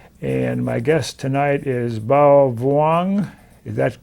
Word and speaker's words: Bao Vuong: And my guest tonight is Bao Vuong. Is that correct pronunciation?